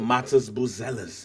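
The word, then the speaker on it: Matas Buzelis: I want bang I'm pronouncing his name is Matas Bellis that's he pronounce it Matas buellis is what I was not aware of him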